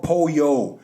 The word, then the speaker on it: pollo: his hand screaming for Poyo but Pollo in Spanish is spelled p-o-l-l-o he's screaming for Poyo